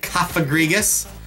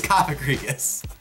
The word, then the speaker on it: Cofagrigus: And Cofagrigus, that's a tricky one.